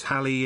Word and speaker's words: Halley: Comet Halley is usually pronounced /Halley/ rhyming with valley, or sometimes /Halley/ rhyming with daily.